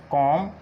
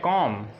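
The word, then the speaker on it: comb: एम के बाद और टी से पहले बी साइलेंट होता है, एम के बाद और टी से पहले बी साइलेंट होता है। एग्जांपल्स देखते हैं, एग्जांपल्स कौन सी हो सकती हैं, जैसे कॉम, क्लाइम, क्रम, नम, टॉम,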